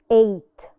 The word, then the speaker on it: eight: write it a eight the GH is silent eight the following number is